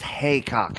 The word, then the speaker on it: Heacock: It's pronounced Heacock, apparently. Is it? Yeah, I'm I got it so wrong sorry. every time I said it.